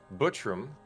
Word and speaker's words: Buttram: 1994, Pat Buttram, U.S. actor and comedian. Oh, you didn't say it right. It's Butt Ram.